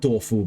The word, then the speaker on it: Toph: So it's should in Chinese, in Mandarin, it should actually be Duofu Beifong, not Toph Beifong.